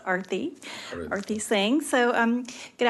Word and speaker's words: Arati: It's pronounced Arati.